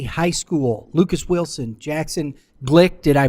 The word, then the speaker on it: Glueck: from uh Staley High School Lucas Wilson Jackson Glick did I pronounce that correctly yeah you got it sweet